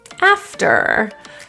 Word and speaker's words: after: you want thank you after typically the r is the sound that gets dropped here so feel the tongue tip curl after use this has an